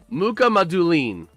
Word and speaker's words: Mukhamadullin: Because I do have a 2025-26 media pronunciation guide saved. Let's hear. Mukhamadullin.